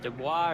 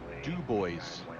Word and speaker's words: Dubois: If you say Dubois, you're going to get beat up in that bar. I'm telling you. Du Bois it is. Thank you. Although when you get across the border into Idaho, there is a Dubois. It's spelled exactly the same way, but they know how to pronounce it. We don't.